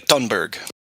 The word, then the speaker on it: Thunberg: silent I do believe the H is silent you guys Greta tberg yeah gr tberg I